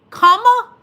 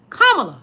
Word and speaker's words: Kamala: Like her nieces said, it's Kamala. Then the other one said, La. Kamala.